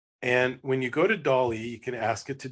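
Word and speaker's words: DALL-E: my favorites it's called Dolly I assume it's uh pronounced like Salvador Dali the Spanish artist and when you go to Dolly you can ask it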